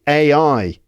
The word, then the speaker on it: AI: good place to start just pronounce AI right so a I repeat it after me a I but what happens when